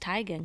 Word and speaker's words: Teigen: No, well, actually, her real name's Teigen. It's pronounced Teigen, Chrissy Teigen.